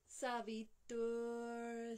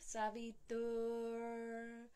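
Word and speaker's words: सवितुर्: Savitur, same, a dental T, and we must pronounce this R. Every letter in Sanskrit is pronounced. So we have Savitur, Varenyam.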